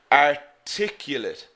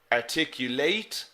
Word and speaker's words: articulate: the different pronunciation there articulate articulate articulate so the stress is here in the second syllable so if you've ever